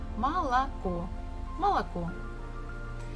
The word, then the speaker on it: молоко: that we definitely know, we have learned it, молоко. This is how we write it, but the stress falls at the last syllable, so the first two O's we must read or say as A. Молоко.